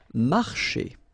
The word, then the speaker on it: marcher: Marcher. Okay, remember when you combine this C and H here, you get the sound sh. Marcher.